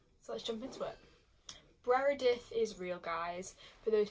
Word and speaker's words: Breredith: not to like so I jump into it Brera death is real guys for those people who don't